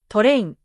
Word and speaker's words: トレイン: For example, club becomes kurabu, glass becomes gurasu, train becomes torein.